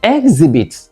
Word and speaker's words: exhibit: is a noun again whether you use it as a verb or as a noun the word is correctly stressed on the second syllable so there is no exhibit in English exhibit all